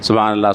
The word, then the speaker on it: سبحان اللہ: ہاں ہے بعد میں، لیکن عام طور پر ہاں اڑا دی جاتی ہے، سبحان اللہ سبحان اللہ سبحان اللہ الحمدللہ الحمدللہ الحمدللہ الحمدللہ، غلط تلفظ ہے نا یہ، اس کی اصلاح کر لینا چاہیے بھائی۔ سبحان اللہ الحمدللہ آخر میں ہاں ہے، دھیان سے یہ تسبیح